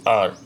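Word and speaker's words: hour: Number 11, ही returned after, यहाँ पे after N आर, तो ही रिटर्न्ड आफ्टर एन आर, यहाँ पे एच साइलेंट होता है तो एन का यूज़ होगा।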